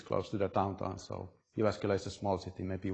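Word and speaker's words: Jyväskylä: So I come from the city of Jyvaskyla, which was perfectly pronounced.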